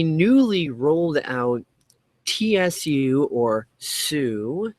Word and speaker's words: TSU: rolled out TSU or Sue as it's pronounced like in the word tsunami tsami Su Sue version